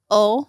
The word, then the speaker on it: oil: So we drop the I. Okay. We pop a little H in there. And it's ol.